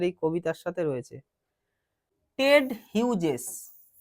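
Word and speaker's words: Hughes: টেড হিউজেস, হিউগেস বলবো না, হিউজেস, এখানে জিটা জয়ের উচ্চারণ করছে, টেড হিউজেস।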